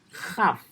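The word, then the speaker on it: כ: Ketika titiknya tidak ada, maka dia adalah huruf khaf, seperti khat pengucapannya.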